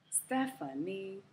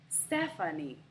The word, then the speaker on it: Stephanie: The middle syllable is the schwa, Stepha, Stephanie. The last syllable in my name has secondary stress and is not a schwa.